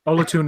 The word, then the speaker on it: Olatunde: butcher his name, but I think it's Olatunde. I know his first name now. Olatunde is the proper pronunciation.